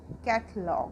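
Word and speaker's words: catalogue: कैटलॉग, अब इसे CATA, LOGUE, कैटलॉग पढ़ेंगे इसको हम कैटलॉग, क्योंकि यूज लेटर के बाद हमारा ई वॉल है, तो इसको हम पढ़ेंगे कैटलॉग।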